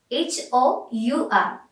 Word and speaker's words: hour: H-O-U-R. Then what's the difference between that letter and the pronunciation? We are not pronouncing the word H, that means the letter H.